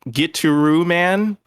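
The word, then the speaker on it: Gitaroo Man: know so there is a game called get to roo man it's spelled kind of weird here i'm going to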